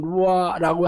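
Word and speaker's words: רוּחַ: 그리고 발음도 예를 들어서 루아 우리가 이게 영이라는 말이 루아 후 혹은 루아라고 하는데 원래는 이게 후음이거든요. 루아 이렇게 돼야 되는 거야.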